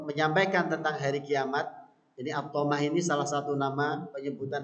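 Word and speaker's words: الطامة: tiba-tiba tadi jaat datang atamah atamah kalau kita lihat dari cara bacanya saja ya ini kalau dalam ilmu tajwid kita mengetahui ini termasuk bacaan Mad yang paling panjang bacaan Mad yang paling panjang ee atamah dan semisalnya jadi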